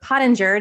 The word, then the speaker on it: Pottenger: So I'm really excited to have Amy Pottenger.